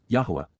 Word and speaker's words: Yahowah: And then, Yahowah, Yahowah, the proper pronunciation of the name of Eloah, God as directed in his Torah, teaching regarding